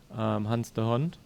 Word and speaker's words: Hans de Hond: So there's only two teams that have ever achieved it, and one team is the team of Hans de Hond. Yep. Is that correctly pronounced? That's correctly pronounced.